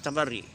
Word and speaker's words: tabarri: Then the opposite to is tabarri, which Ahl Zaban al-Arabi, they speak tabarri. Tawalli tabari, but we say as tabara.